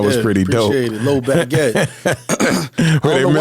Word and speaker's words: LOE Badgett: LOE Badgett. Where they I don't know why people mispronounce it. Yeah, man. People keep calling me LOE Badgett like I'm a piece of bread or something, man.